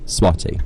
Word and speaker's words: Swati: Now I have been told that this is how you say her name, Swati.